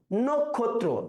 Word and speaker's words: নক্ষত্র: এরপরে আসো, আমরা কি নক্ষত্র বলি না নক্ষত্র? নক্ষত্র এখানে সংবৃত হচ্ছে।